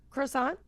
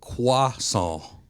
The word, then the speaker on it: croissant: Croissant. Okay. Uh yeah, we pronounce it croissant. The French pronounce it quason cuz my mom makes sure to say